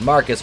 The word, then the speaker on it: Marquis: farfetchery we know that marquis pronounced marcus murdered a security guard